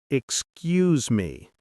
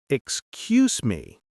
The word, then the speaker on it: excuse me: When you say, excuse me, make sure to pronounce it as excuse me, not excuse me. The stress is on the second syllable, cues.